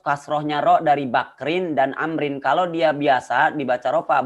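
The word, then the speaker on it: عمرو: kita Bukit Abu mudhof Amrin bodoh Hai nilai kitabmu Amrin di dalam bahasa Arab kalau di akhirnya ada Wow ini dibacanya Amr kalau enggak ada Wow dibacanya Umar di Amrin Amerika kalau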